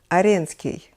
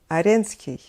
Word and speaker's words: Аренский: edition I will be using my native language Russian to pronounce names of Russian composers just the way we say them in Russia and we will start with the name of Anton Aryan ski Anton Aaron ski an